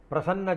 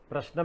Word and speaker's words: Prashnam: Usually astrologers pronounce it as Prasanna Jyothidam. But the correct word is Prashnam meaning "Question" In that Rasi is very Important.